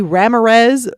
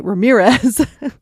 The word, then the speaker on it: Ramirez: friend of a friend Corky ramz which is apparently Ramirez but that's how Michael Richards mispronounces it he says one they're